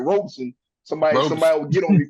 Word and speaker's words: Robeson: It's gonna be a Robinson County showdown, man. Or I ain't saying it right, Robeson.